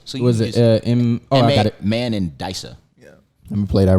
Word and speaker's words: Mandisa: you know what's crazy you pronounced it phonetically just so we can get it man this is the proper pronunciation but man this he gave you the mandissa so what was it